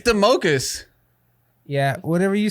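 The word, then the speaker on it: Domokos: Doug D-O-M-O-K-O-S. Democos. Wow, dude. Democos. You It's- fucking didn't even say his name right. It's Democus.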